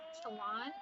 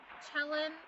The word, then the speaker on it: Celan: It says, perhaps Mahalia, like Paul, I think it's Chelan, I think, is how it's said, has already lived all our lives for us. And Paul Celan was a Romanian poet and translator.